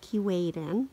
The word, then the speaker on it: Keewaydin: well I'm here with Dave's the caretaker of Keewatin I've been saying it wrong all this time